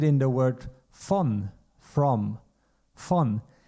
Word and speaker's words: von: V you find it in the word von, from, von. And this letter V, or V in English, is pronounced exactly the same as the letter F in German, A, B, C, D, E, F.